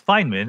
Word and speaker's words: Feynman: and do you agree yeah it's feynman how he pronounced it and what he